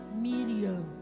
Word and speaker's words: Miriam: ela tem um nome como é o nome dela em hebraico a gente pronuncia Miriam que significa soberana